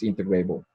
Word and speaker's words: integrable: I think the correct pronunciation is integrable, but I have problems because in French it's integrable, and then and so it's in Spanish. So that's but the correct pronunciation is integrable.